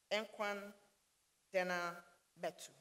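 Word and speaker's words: እንኳን ደህና መጡ: and say to him, Enkwan Dena Metu. You're welcome, Your Excellency. That's how they say it in Amharic.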